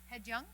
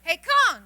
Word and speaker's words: 해경: Haejung. 경. 경. Kyung. Okay. Kyung. good. Hey, Yeah. Kyung. 해경. Hey, Kyung.